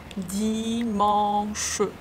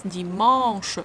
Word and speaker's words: dimanche: When you pronounce dimanche, you first finish the sound, the nasal A, mon. Only then you pronounce sh.